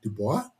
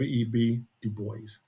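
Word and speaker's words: Du Bois: Well, it's debatable on how you pronounce it. Some people say Dubo. I was always taught Web Dubo.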